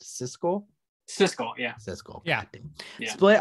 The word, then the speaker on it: Siskel: no is it how is the first one pronounced cisco cisco yeah cisco yeah split on this movie